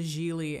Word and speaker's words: Gigli: My name is pronounced Gigli. It rhymes with really.